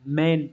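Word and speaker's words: 免: Âm ghép nó sẽ được đọc là men nhá.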